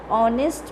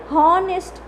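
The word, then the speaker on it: honest: क्या है, कॉन्सोनेंट है, बट हमें प्रोनाउंसिएशन देखो ऑनेस्ट। ओके, हॉनेस्ट ऐसा नहीं बोलते, हम क्या बोलते हैं, ऑनेस्ट। तो प्रोनाउंसिएशन किससे स्टार्ट होता है, ओ से स्टार्ट होता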